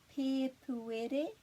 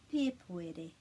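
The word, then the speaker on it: Pēpuere: Pepuere, and the emphasis would be on the pe, the first syllable, because it's got a macron. Pepuere.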